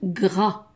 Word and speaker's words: gras: هنا le GR avec un A, on dit pas, ما نقولوش لا ننطقها جرا, on dit gras.